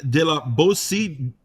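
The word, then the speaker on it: de la Boétie: Criminality in Government with VT's Etienne de la Bossy, squared, right here, right now, on VT Radio. Let's go. With host Johnny Punish. Okay, we're back on VT Radio with the fantastic Etienne de la Bossy.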